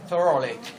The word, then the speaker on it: thoroughly: Cái từ thoroughly là một cái từ mà đa phần các bạn đọc sai. Đấy. Đấy, nhìn qua cứ đừng đọc là through nhá, đúng không? Đấy, đó là thorough nha. Đấy, ok, thoroughly nha.